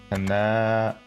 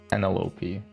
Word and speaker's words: Penelope: No, Penelope. Penelope. It's like an envelope.